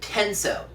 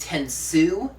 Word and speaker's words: Tensou: note this episode is primarily about this guy tenso and yes I pronounce it tenso as in tenso what I pronounce it that way I've been hearing online that it's pronounced tenu but seeing as they get the name from